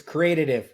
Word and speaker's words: Creatitive: It's Creative.